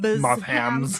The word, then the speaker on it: Mothham69: Moth hams. I said it like ham because I feel like MB is silent.